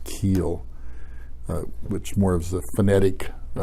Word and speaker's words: Kuhl: cool actually in that area they called it keel so Koh I was pronounced keel which moves the phonetic pronunciation of Koh Oh